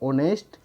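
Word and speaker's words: honest: इसी तरह से ऑनेस्ट, ईमानदार, इसके एच जो है इसमें साइलेंट है, और पढ़ा जाता है उच्चारण ओ से, इसीलिए इसके आगे भी लगेगा एन ऑनेस्ट वाई।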